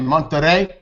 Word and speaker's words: Monterrey: She didn't want me to not be able to come back, so she was in Monterrey this weekend. Man, that's what I'm talking about. How do you say it? Monterrey?